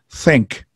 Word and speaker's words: think: So this word is pronounced think.